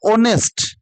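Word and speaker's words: honest: लोग बात करते हैं एच यहां पे साइलेंट है एच साइलेंट है तो यहां पे इसका उच्चारण होगा ऑनेस्ट देखो आवर ऑनेस्ट एयर उत्तराधिकारी वाला होता है।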